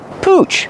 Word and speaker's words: pooch: Pooch. Pronunciation. Use the ooh sound like moon and soon.